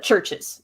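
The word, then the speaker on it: CHVRCHES: to look them up it's c h v r c h e s uh but churches that's how you pronounce it um but they're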